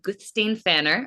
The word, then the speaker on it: Guðsteinn Fannar: I have Gustain Fanner. I said that right.